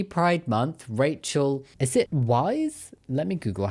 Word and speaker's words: Weisz: Is it Wise? Let me Google how to pronounce Rachel's surname because I don't want to get it wrong. Rachel Weisz.